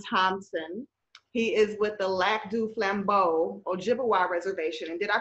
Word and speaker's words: Lac du Flambeau: guest musician darren thompson he is with the lac du flambeau ojibwa reservation and did i pronounce that right aaron yeah you did oh